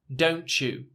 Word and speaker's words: don't you: really important to note the T sound is silent don't you don't you it's actually a CH don't you but if you're gonna